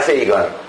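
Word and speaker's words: Sagan: 칼 세이건, 미국에서는 사강 이렇게 발음을 한다는데 칼 세이건이라는 분이 쓴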